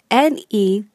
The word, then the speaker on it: nettoie: In je, the Y is removed and replaced with an I. So it is spelled N-E-T-T-O-I-E to produce the sound nettoie.